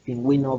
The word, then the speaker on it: pingüino: Se utiliza diéresis sobre la vocal U de las palabras y, de las sílabas Y y Y cuando queremos que la U se pronuncie, pingüino, vergüenza.